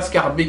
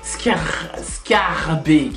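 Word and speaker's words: Schaerbeek: Scarbeek. Pourquoi? Parce qu'on ne dit pas Scarbeek à ce qui paraît en néerlandais. Les vrais flamands m'ont dit c'est Scarbeek.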